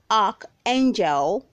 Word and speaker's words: archangel: number 4 we have archangel archangel you are to say arc angel north ark angel word number five we